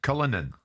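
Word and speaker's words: Cullinan: I mean in the past I mean Fan has driven a Rolls-Royce Cullinin I know if that's for sure the right you will is that the right pronunciation a Lamborghini Urus I mean you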